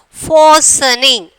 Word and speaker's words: fastening: So we have to pronounce fastening. Fastening. Listening. We are pronouncing, no, the same like that. Fastening. Here what letter is silent? T is the silent.